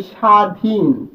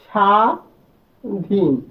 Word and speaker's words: স্বাধীন: যেমন আমরা যদি বলি স্বাধীন, স্বাধীন, এখানে এই ব কিন্তু উচ্চারণ হয় নাই, অর্থাৎ আমরা কিন্তু বলি